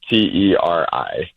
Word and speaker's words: Teri: How do you say Terre? No, Teri.